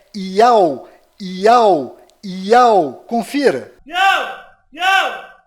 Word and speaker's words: YAUH: Este israelense é mais uma prova que a verdadeira pronúncia deste nome é Iau.